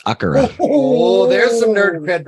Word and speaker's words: Akira: Well, in Japanese, how do you pronounce it? because I watched the anime in Japanese. It's Akira.